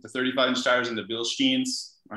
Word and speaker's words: Bilstein: I highly recommend the Sasquatch upgrade with the 35-inch tires and the Bilsteins.